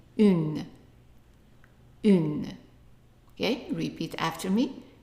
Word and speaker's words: une: So instead of un, we are saying une. Une. Okay, repeat after me. Une. Okay, and notice that the e at the end is silent, so we just pronounce in u and then n, une.